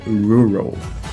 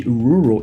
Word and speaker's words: rural: No caso aqui de rural, esse R ele aparece 2 vezes e o L ele ainda é um L um pouco mais longo, que acaba causando dificuldade na hora de pronunciar essa palavra.